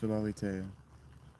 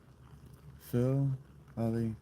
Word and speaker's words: Philalitheia: It's pronounced Philalitheia. Philalitheia.